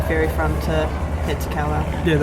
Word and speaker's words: Kawau: Yeah, we'll just leave one of them Sands Pit which is where you catch the ferry from to head to Kawau.